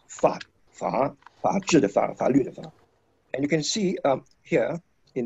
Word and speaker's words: 法: And it's pronounced, of course, as fa, and you can see here,In this one word, a number of elements.